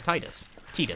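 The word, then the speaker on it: Tidus: It's definitely pronounced Titus. I want to throw that out at you. It's definitely Titus. I get it wrong too, but it's definitely Titus. If I actually say his name in the game. They have at multiple points in a variety of spin-off material. And also, it's Titus per the Japanese.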